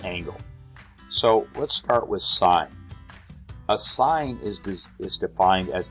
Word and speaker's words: sin: a math function but you still pronounce it sine even though it looks like sin and this is still